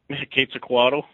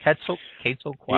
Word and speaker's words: Quetzalcoatl: What about some of the other hotter ones, including the, go ahead and correct me if I'm wrong in pronouncing this, the Quetzalcoatl? Quetzalcoatl. Yep. Quetzalcoatl.